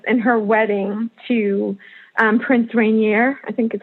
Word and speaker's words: Rainier: becoming a princess and her wedding to Prince Rainier, I think is how you say his name, of Monaco.